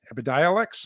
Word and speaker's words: Epidiolex: and you've heard about this drug called epidiolex epidialex is i believe how it's pronounced this is the only drug that is